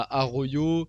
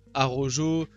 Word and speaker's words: Araujo: alors ça c'est pareil la prononciation il y a Arroyo Araujo Arau bon comme vous voulez bref moi j'aime bien dire à Royo bref bon on va